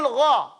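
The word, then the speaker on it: غ: Because it's still gha.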